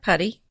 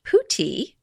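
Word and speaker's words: putti: that you're adding okay so I looked up putty while you were talking but I was listening too I know you were I'm sure of course darling so apparently it is pronounced pouti okay Italian a representation of a cherubic infant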